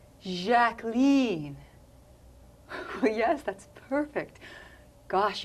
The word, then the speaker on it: Jacqueline: Well, actually, it's pronounced Jacqueline. French style. Jacqueline.